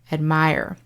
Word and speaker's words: admire: pronunciation for a minute in the verb form the stress falls on the second syllable and we get the long i sound admire i admire you in